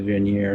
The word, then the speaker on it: vernier: Or is that like, well, directional thruster, which is a vernier. Vernier. It is French. It sounds French. It looks French.